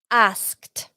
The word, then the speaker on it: asked: Asked. A trick to pronounce it correctly. Just see in your mind A-S-K-T and then pronounce, say every letter. Asked. Asked. Es así. You don't hear the D sound.